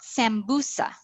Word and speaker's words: sambusa: What about sambusa? Sambusa. Which one is stressed? 1, 2, or 3? Yeah, we've got 2. Sambusa, sambusa.